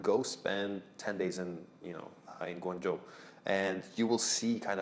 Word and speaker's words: Guangzhou: and actually live in Guangzhou and Am I pronouncing right? Guangzhou? Guangzhou.